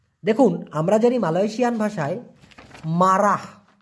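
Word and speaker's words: marah: আমরা জানি মালয়েশিয়ান ভাষায় মারা এম এ আর এ হ এইচ উচ্চারণটা হচ্ছে মারা এই মারা মানে হচ্ছে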